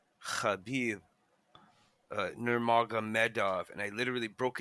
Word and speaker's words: Khabib: You ever hear Tito Ortiz trying to pronounce Khabib's name? He just gets it wrong every time. And Joey Oh Diaz, man, that kebab. guy's He calls him kebab.